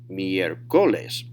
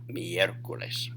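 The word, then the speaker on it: miércoles: should go up because without that little accent it should be miercoles right the next last syllable but they don't want you to pronounce it there so instead they say miercoles all right and finally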